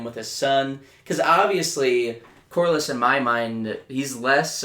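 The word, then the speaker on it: Corlys: I think my MVP has got to go to Corliss.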